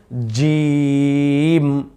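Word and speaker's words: جيم: এই জিম বলার সময় জি, এই যে একটা আওয়াজ, এই বাতাসটা কিন্তু বের হবে না। বাতাস বের হলেই জিমের উচ্চারণ সুন্দর হবে না।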